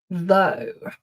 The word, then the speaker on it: though: Though, though. So, though rhymes with go.